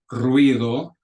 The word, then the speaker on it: ruido: So if you look at those 3 words that are in the second line, ruido, ruido. So it's 2 syllables. It's not ruido, it's ruido. Parientes, not parientes, it's parientes, ye.